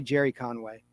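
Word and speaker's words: Gerry Conway: The story inside was written by Gary Conway or Jerry Conway spelled with a G, so we'll say Jerry Conway.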